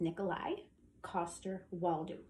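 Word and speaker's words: Nikolaj Coster-Waldau: He played Jaime Lannister's name is Nikolai Coster-Waldau.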